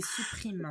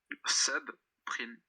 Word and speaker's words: subprime: La crise des supprimes. Crise des supprimes. Supprime, ça s'écrit comme supprime, quoi. Oui. Subprime. Normalement, sub prime. SUB, prime.